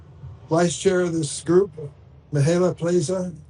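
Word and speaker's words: Mihaela Plesa: chair of this group, Mihaela Plaza. Am I close, Mihaela? Thank you so much, Is that close to Senator. pronunciation? Yes, you did very well. Thank you. Good morning, everybody. My name is Mihaela Plisa, and I proudly serve as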